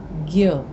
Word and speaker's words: ज्ञ: ज्ञ, अब बोलने में जब हम उसका उच्चारण करते हैं तो ज्ञ में ग और य की आपको ध्वनि आती है, परंतु लिखने में जो है ये ज और य है।